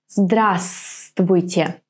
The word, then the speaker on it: Здравствуйте: For example, our famous «Здравствуйте». Здравствуйте. Now, which letter is not pronounced here? Здравствуйте. Right, this V. Здравствуйте.